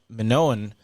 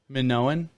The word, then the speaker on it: Minoan: same vein the the story of the minoa minoan civilization can you look that up and see if we've been saying it wrong minoan minoan m-i-n-o-a-n because i'm like oh for 30